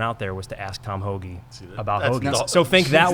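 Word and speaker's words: Tom Hoge: asked to interview a professional golfer his name's tom hoagy has everyone uh no it's spelled h-o-g-e but i thought all right look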